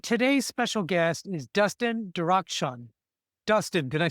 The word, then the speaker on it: Darakhshan: And today's special guest is Dustin Dakshun.